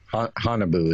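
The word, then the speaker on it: Haunebu: the second world war hanabu is how you pronounce that honey boo-boo honeyboo during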